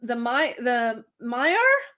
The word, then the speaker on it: Maiar: Except Galadriel, who became literally, to my mind, a lady in waiting to one of the Maiar? Is that how you say it? Maiar.